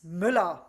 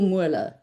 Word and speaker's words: Müller: And they'll go, "Is it Müller or Mua?" And I go, "Yes." And now I just save it on my phone and show them how it's spelled because clearly I'm uh not doing it correctly. Maybe you should say as in mil because every German knows that.